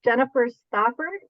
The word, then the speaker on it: Jennifer Stauffer: alarm for the interview uh my name is Jennifer Stafford and um my maiden name is actually